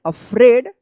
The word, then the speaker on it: afraid: AFRAID यानी AI जो है ना एक साथ है तो ए उच्चारण करेंगे। क्या पढ़ेंगे? अफ्रेड ऑफ।